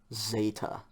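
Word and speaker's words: ζῆτα: of the line okay zeta like like the english zebra okay again we'll start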